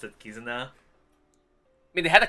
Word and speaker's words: Kizuna: thought it was written that way but you pronounce it kizuna i mean they had the kakanaki soon and